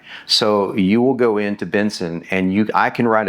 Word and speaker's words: BNSN: And then that just became bigger and bigger and and now it's become what's called Benson. And yes, it's after my last name, but it's spelled BNS.